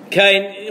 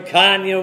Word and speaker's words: Kanye: Kane, what is it? What's his name? K.N. West? K.N.? Someone say it properly. Kanye.